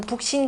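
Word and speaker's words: 北辰: 덕치를 뭐냐면 뭘로 비유하냐면은 북신 개념으로 비유한다 이렇게 표현한 내용이 있는데요. 북신 이때 북진이라고 읽으면 안 되고 북신이라 읽으셔야 됩니다.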